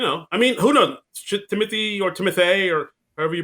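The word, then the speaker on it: Timothée: So, it's the same thing where it's not Timothy, it's Timothy.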